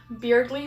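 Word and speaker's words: Berdly: Beardly because his name is Beardly. That's how it's pronounced.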